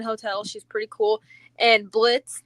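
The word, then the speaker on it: Blitzø: And Blitz, the O is silent from um Hell of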